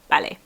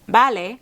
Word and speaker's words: vale: B's and V's in Spanish are pronounced and sound exactly the same. So if it sounds like someone is saying vale rather than vale, it's because they are.